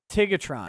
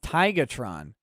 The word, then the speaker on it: Tigatron: kermit the frog also you pronounce my name wrong it's tigatron uh happy birthday to